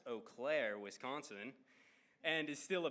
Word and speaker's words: Eau Claire: Miss Bennett grew up in Eau Claire, pronounced Eau Claire, Wisconsin, and is still a Badgers fan.